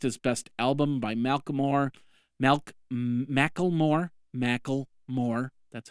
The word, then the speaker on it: Macklemore: Macklemore. That's how you pronounce it.